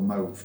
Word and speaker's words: mauve: quite chemically but morph morph okay or mauve depending on your pronunciation and uh and It just tells you it was an absolute disaster 100 years ago.